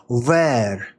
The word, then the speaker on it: wer: It goes on to say uh from the protoindo-uropean root word we eer ver it's pronounced sort of with a oo and a v sound together ver which is the beginning